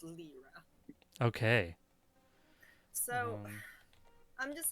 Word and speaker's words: Lliira: Is it Lyra or Lyra? Lyra. Lyra. I decided it's spelled Lliira, so I decided that it's Lyra.